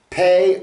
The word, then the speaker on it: פ: puppy the pay is the letter p as in puppy hey good good boy